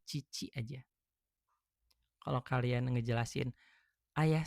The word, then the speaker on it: 父: Kalau kalian nyebutin Bapak sendiri pakainya ini kanji ini tapi berdiri sendiri dibacanya cici aja.